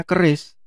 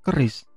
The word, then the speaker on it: QRIS: Nah, khusus di Indonesia itu ada namanya QRIS atau Quick Response Code Indonesian Standard. Jadi dari pemerintah itu sudah mewajibkan para penyelenggara atau provider payment gateway yang menggunakan QR code itu untuk ikut QRIS atau QRIS gitu ya kalau bacanya.